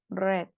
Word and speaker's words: read: Se va a leer como red. ¿Ok? Como el color.